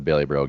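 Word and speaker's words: Bailieboro: never heard of this town, and I'm gonna pronounce it as best I can. Is it Baileyborough? You nailed it. It's Baileyborough.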